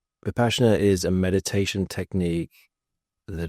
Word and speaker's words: Vipassana: So for people who don't know what Vipassana is, I think it's actually pronounced Vipassana.